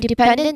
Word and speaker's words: dependent: So here we have dependent which stress is the middle syllable pen again the end ending is and trust you know so we place emphasis in the syllable before it.